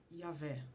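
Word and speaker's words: Yahweh: vogais para não perder a forma correta de pronunciação das palavras originais. Desse jeito, o formato correto seria Yahvé.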